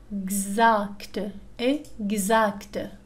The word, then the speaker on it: exact: لدينا حالة أخرى. X تنطق مثل Gz. Exemple. Un exemple. Exemple. Exact.